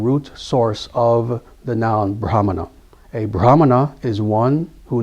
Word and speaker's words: brahmana: What is sometimes uh mispronounced as brahman. That is that's the English version. That's the uh old English virgin version of the word brahman. It's not brahman. It's brahmana.